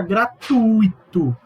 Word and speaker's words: gratuito: Se pronuncia circuito, se pronuncia gratuito, se pronuncia fluido, se pronuncia rubrica, não é rúbrica.